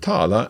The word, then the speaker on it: tala: Now both "tala" and "prata" have got two 'a's in them but the second 'a' is a little shorter.